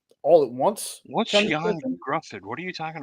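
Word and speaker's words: Ioan: the one with the the Yan Gruff, which it's pronounced Yan.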